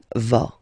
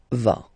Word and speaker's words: vas: Okay, tu vas. Same thing here, final S not pronounced. Tu vas.